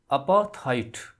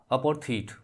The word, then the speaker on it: apartheid: अपार्थाइड या अपार्थीट, both pronunciations are correct.